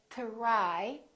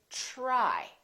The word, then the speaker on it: try: brand new different sound this is true with the letters t and d when they are followed by the consonant r let me explain for example t r y we don't say try it becomes like a ch sound we say try try so the t r